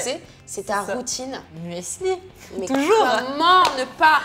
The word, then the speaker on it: muesli: Alors, dire muesli. muesli. Voilà, ok, Ouais. je le dis bien.